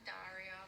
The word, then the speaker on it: Daria: is uh darya valero she says my name rhymes with both of my nationalities so she's australian and russian okay okay so just hello i'm daria from australia hello i'm dasha from russia she's not wrong that's